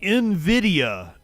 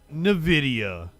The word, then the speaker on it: Nvidia: some kind of growth it's Nvidia not Nidia so I've been saying